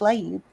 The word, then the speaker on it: Laib: that's my name and it is pronounced Le you guys nailed it at the beginning thank you thank you